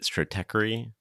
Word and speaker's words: Stratechery: Strateery is Is that even how you say it? Is it stratey? It is. It is. Strate strategy and tech.